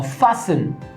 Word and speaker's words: fasten: Now fasten, it doesn't give the sound of T, but when it comes to writing it, the T is there.